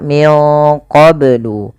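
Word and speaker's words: مِن قَبْلُ: ya Wu qblu yhun kemudianfal qblu ini banya harus dipantulkan karena ia ada bacaan Qalqalah maka Bacanya adalah minqblu kesalahan yang terjadi dalam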